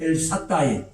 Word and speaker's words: 엘샤다이: 엘샤다이의 하나님이란 말, 엘사다이라고도 합니다. 강한 발음은 히브리 원문의 엘사다이, 그것은 전능하신 하나님.